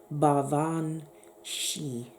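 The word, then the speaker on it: baobhan sìth: ban Seth but it's actually Gaelic and it's pronounced bar Vaughn she which is where you can understand where you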